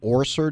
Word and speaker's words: Orser: Cindy Orser. Did I pronounce it correctly?